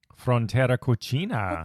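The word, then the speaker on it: Frontera Cocina: for that definitely look go to Aaron mckanas Frontera coina that's how you pronounce it yes the takaria and Salada so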